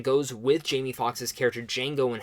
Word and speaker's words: Django: my number one is Django Unchained the D is silent and he knows Best